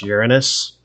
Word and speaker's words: Uranus: It is properly pronounced Uranus.